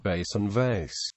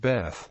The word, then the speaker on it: Bet: This letter is named Baton Vet following the modern Israeli Hebrew pronunciation. Baton vet in Israel and by most Jews familiar with Hebrew. Although some non-Israeli Ashkenazi speakers pronounce it bas. It is also named Beth. Following the Tiberian's Hebrew pronunciation in academic circles in modern Hebrew, the